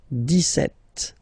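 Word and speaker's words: dix-sept: okay so it's clear but then for the pronunciation deset okay so you don't insist on the deset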